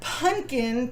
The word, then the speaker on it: Pumpkin: So it's actually pronounced Punkin, P-U-N'_K-I-N, but it's spelled like pumpkin.